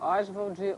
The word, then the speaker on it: Oswald: explica pra gente aí essa polêmica da pronúncia do nome porque eu chamo osal tem até um artigo do antnio dizendo osvald osvald Osvaldo os enfim é porque avó o pai chamava osval osvald Andrade ele osvald Andrade o filho osvald